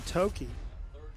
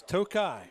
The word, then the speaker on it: Tokai: One of the first guys there, Dan Tokey, just a sophomore. That's Tokai. Is it Tokai? It's Tokai.